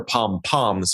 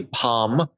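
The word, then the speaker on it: pompon: m's but i believe the correct original version although i'm sure pom-poms is completely okay at this point it's actually palm p-o-m pawn p-o-n but again they've been said pom-pom so many times good luck on-ring ringing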